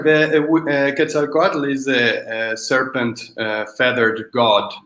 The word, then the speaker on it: Quetzalcoatl: This is Quetzalcoatl.